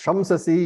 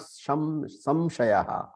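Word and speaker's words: शंससि: and yoga also see so this shamsasi you have to be carefully careful while reading it is not shamshaya it is to praise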